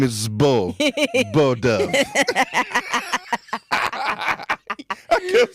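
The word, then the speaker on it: Beaux: But you got Bo Dove.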